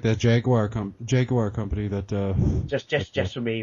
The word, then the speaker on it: Jaguar: Jaguar, because to quote Jeremy Clarkson, when he said to Ryan Reynolds on Top Gear, it's called Jaguar, we say it properly.